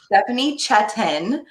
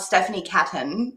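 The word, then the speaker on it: Stephanie Çetin: It's Stephanie Cetin, and that character does not exist in the English language. So you would probably only pronounce that correctly if you were Turkish.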